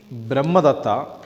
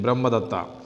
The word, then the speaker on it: Brahmadatta: When King Brahmadatta was ruling the kingdom of Varanasi, the Bodhisattva was born on his only son, and he was named Brahmadatta after his father.